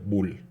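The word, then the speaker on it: bool: todo su nombre completo nada más es Bull b o o L sí que se pronuncia Bull Y eso solo puede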